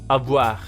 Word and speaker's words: avoir: For example, the combination O-I becomes wa, as it always does. So you just say it out loud.